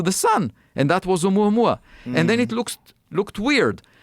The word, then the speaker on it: Oumuamua: Oumuamua. Oumuamua.